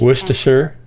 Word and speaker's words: Worcestershire: is too hard what this is the stressed syllable then we have two unstressed syllables sure mr sure lower in pitch worcestershire the st constant cluster